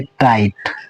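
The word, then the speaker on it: tight: नाइट पढ़ेंगे ठीक है यहां भी आई के बाद जी एस टी इसी जीएस को हम छुपा देंगे तो इस टी का उच्चारण करेंगे तो इस वर्ड को हम पढ़ेंगे टाइट।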